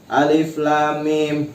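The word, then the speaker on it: الم: Nah, jadi apabila menemukan huruf-huruf muqatta'at ya seperti ini, jangan terburu-buru ya. Misalkan alif lam mim. Nah, itu kurang tepat ya. Tetapi harus dibacanya seperti ini. Alif lam mim.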